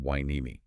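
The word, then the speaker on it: Hueneme: And as a reminder, that's pronounced winei.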